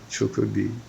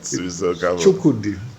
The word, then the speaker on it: Chukwudi: Chukwudi.